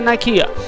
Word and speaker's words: Nikeah: this town to explore this is uh nikea that's how I'm going to say it like uh just do it and destroy your family